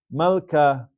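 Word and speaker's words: מלכה: Rule number 1 is Malka. Malka. 2 syllables. It's a Sheva Nach in the middle of the word.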